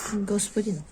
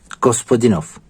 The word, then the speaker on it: Gospodinov: Giorgio Gospondinov. Gospodinov. Gospodinov. Quelle belle prononciation !